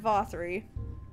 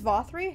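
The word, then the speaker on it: Vauthry: paddles a toast the Lord vossery it's vothri Hellyeah I'm gonna become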